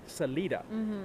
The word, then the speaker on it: Salida: City and she picked the Spanish word for exit which is actually Salida and that is the correct pronunciation it is so people ask why isn't it Selita because it's not if